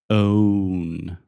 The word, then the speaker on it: own: always always pronounce incorrectly the word own ah oh my God that's true you say on own own own okay so say oh